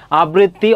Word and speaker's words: আবৃত্তি: গুরুত্বপূর্ণ সেগুলো একটু লিখছি আবৃত্তি অনেকবার পরীক্ষায় এসেছে এর উচ্চারণটা কি হবে আবৃত দেখো আবৃত এখানে থেমেছে হচছেন আর বাকি হবে কিতি আবৃততি অকৃতজ্ঞ হবে কি হবে বলতো